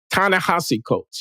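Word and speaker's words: Ta-Nehisi Coates: not being discussed right this recent debacle with Tanana ha coats I hope I'm pronouncing his name right tassi the hii is still sounds like the H SII tanassi coats yeah I'll call them coats because I'm terrible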